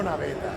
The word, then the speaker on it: Naveta: And we're looking at the new, now how do you say it correctly? Fratello Naveta. Naveta. Yeah.